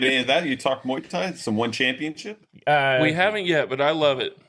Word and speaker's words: Muay Thai: No, it's Muay Thai.